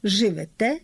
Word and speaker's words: живете: Отже, літературний наголос на останньому складі. Несете, берете, живете, даєте.